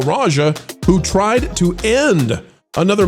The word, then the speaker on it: Raja: Raja Jackson, is that how we pronounce the man's name, Marvin? Yeah, like the tiger.